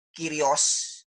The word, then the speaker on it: Kyrios: Karena kata Tuhan yang ada di dalam teks Yunani itu Kyrios, tulisannya Kurios, kita bacanya Kyrios ya.